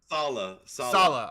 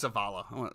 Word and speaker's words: Saleh: How do you say his name? Saleh. I thought it was Savala.